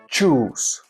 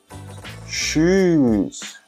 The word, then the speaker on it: shoes: But Spanish speakers say choose, shower, chop. The correct way to say it is shoes.